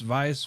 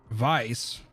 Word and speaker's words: Weiss: get over it endless the w is pronounced as a v why i've heard it the other way i've heard somebody say that weiss was pronounced vice with the w so